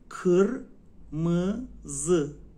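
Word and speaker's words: kırmızı: رو داشته باشیم بچه‌ها ببینین این ای نیستا آی بدون نقطه است ا تلفظ میشه ا قر مز قرمز قرمز سار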